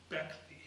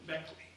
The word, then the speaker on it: Baechle: This morning, one of my investigators advised me that, according to her attorney, she pronounces it Baechle. Baechle? Baechle.